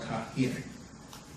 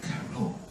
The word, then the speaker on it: Cairo: The city of Cairo is called Cairo because the Greeks could not pronounce K. They used a CH. It's actually called Kahir. Not Cairo, Kahir.